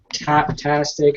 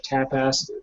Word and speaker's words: Tapastic: gonna put it on Taptastic or Tapastic. How it's spelled without the T, but I keep wanting to say Tapastic is what it's called, but I keep wanting to say Taptastic.